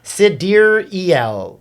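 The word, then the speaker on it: Sideræl: newborn Exa Dark Sidera Musk shared that the correct phonetic pronunciation of the daughter's name is Sidir El. Actually, you could do that better. Sidereal.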